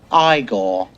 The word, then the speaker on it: Igor: Igor's moving hump. How why isn't it Frawderick Fronkensteen? It isn't. It's Frederick Frankenstein. I see. You must be Igor. No, it's pronounced Eye-gor.